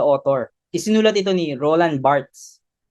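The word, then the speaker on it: Barthes: isinulat ito ni Roland barts na Bart daw ang tamang pagbigkas alin sunod sa kanyang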